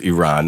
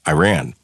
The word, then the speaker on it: Iran: So you had a choice when the family left Iran. Now, again, a lot of people mispronounce your country, your origin. A lot of people call it Iran, but it's correctly pronounced as Iran.